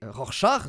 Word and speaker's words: Rorschach: retraite et surtout Rorschach c'est Rorschach du coup comme ça que ça se prononce ils avaient raison les